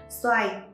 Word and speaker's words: Xoài: Xoài. Người miền Nam phát âm là xài, ý muốn cầu mong cho việc tiêu xài không thiếu thốn, cuộc sống thì sung túc.